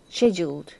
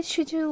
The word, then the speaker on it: schedule: the ankle, an event scheduled from mid morning. Is it? Do you say schedule or schedule? Do you say? We would say schedule. Schedule. Schedule. They'd say schedule.